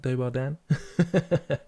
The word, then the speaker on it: Dobar dan: Am I pronouncing that right? Dobar Dan.